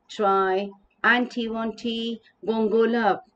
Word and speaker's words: Triantiwontigongolope: t won't go up so here the poet has broken this a big name it's a very very hard one difficult one to pronounce so the point here has broken it into smaller words so that we can pronounce it so let us come